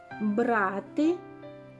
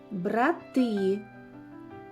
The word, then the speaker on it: брати: серед схожих слів знайде брати брати чим відрізняються ці слова так у слові брати наголос падає на перший склад А у слові брати наголос падає на другий склад плакати плакати чим відрізняються